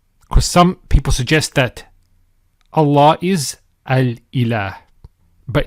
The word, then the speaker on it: Allah: The lam with the shadda is pronounced with tafkhim, with heaviness. So, as we said, Allah.